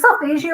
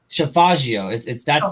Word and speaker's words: Solfeggio: So the importance of that is because, like she said, I always suck at pronouncing the word Savaggio, right? That golden ring. Is it Solfeggio or Solfaggio? Solfaggio.